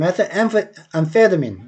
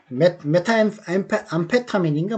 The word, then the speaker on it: methamphetamine: 그 다음 methamphetamine, amphetamine, MA가 아니고 M이다. metha죠. 그리고 methamphetamine, M이죠. 그 다음 pH는 F 발음이라는 거 아시죠? 그 다음에 강세는 2강세, 1강세입니다. 좀 작게 발음나고 제일 센 거는 페에 나오는 거죠. 페에. 그래서 methamphetamine입니다. 메타암페타민인가 뭐 그런 식으로 발음이 나거든요. methamphetamine일 겁니다. 그러니까 우리나라 말로는 그렇다는 메타암페타민 이렇게 발음을 하겠죠. 그죠? 우리나라 말로는. 근데 원래는 영어 발음으로는 methamphetamine입니다.